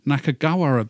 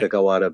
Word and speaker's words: Nakagawara: But I don't know whether you'll be going to Nakagawara Beach. Oh, that was pretty good pronunciation. Was it? Nakagawara Beach.